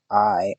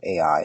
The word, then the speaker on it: Ai: his tent with Bethel on the west, and Ai on the east. It's spelled AI, so I said sorry.